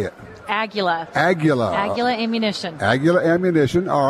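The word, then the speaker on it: Aguila: Aguilla.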